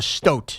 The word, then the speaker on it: stoat: Rhymes with boat, not a stout. Stout is beer. Stout. So it's a stoat.